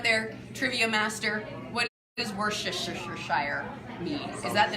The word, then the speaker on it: Worcestershire: I'm like, Worcestershire.